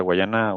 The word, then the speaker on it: Guyana: No, no creo que haya Porque ahí, por ejemplo, ahorita que hablamos de la Guayana, o Guyana, ¿cómo se dice? Francesa, Guyana Francesa.